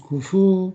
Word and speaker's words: 工夫: Kemudian kufu ini juga sering muncul di Noriku Shiken ya, artinya 工夫、 kufu panjang ya.